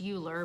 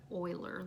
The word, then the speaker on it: Euler: might think is pronounced Euler but he was German and in evidently in Germany they pronounced that Euler like with an O but E is what